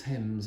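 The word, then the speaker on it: Thames: The tempame's the it's spelled themes but people cook well it's thame sometimes but it is tames that's the way to say it even though it's th and th in English is usually th it's not ths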